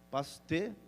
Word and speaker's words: Pasteur: Louis Pasteur, sei lá como é que se pronuncia, francês, Pasteur, isso aí mesmo, glória a Deus, Deus te usa, irmão.